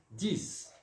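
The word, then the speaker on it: dix: Vamos pronunciar o X aqui como se fosse o som do S, d'accord? 10.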